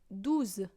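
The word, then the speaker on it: douze: Then you go with 12, which is 12. So it's also ending with a ZE, and so you have the sound, you know.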